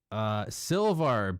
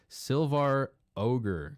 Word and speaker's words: Silvar Ogre: Silvar, bro. I can't believe I've been mispronouncing it. I thought it was Silva. Silvar Ogre.